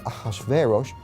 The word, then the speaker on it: Ahasuerus: Now, that was hard for the Jews to pronounce, so they said Ahasuerus.